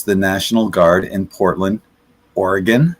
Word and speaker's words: Oregon: get to use the National Guard in Portland, Oregon, not Oregon, right?"